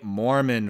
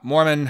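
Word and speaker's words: Moorman: to bring it up it is called the Mormon photo not Mormon like the religion uh but and not Mormon like I need more men how do you spell it m o o r m a n yeah so this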